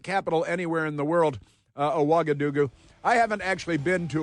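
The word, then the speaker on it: Ouagadougou: It's Aagadoo. Aagadoo is the capital of Bkira Faso. It is my favorite capital anywhere in the world. Aagadoo.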